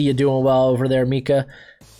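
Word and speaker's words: Minkah: Bittersweet, but hey, I'm glad to see you doing well over there, Minka. Gotta pronounce that N.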